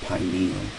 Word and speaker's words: pineal: the pineal gland and uh you know I know people want to call it the pineal gland uh but you pronounce it pineal pine tree pineal is found near in